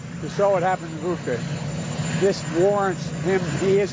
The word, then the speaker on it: Bucha: And what's happening in Bucha is outrageous. And everyone's seen it. It's Bucha, not Bucha. Bucha, like butcher.